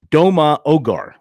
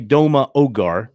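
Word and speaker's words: Ndoma-Ogar: Doma Ogar. I'm assuming the N is silent. N-D-O-M-A. E.J. Doma Ogar, 6'2", 305 from Allen, Texas.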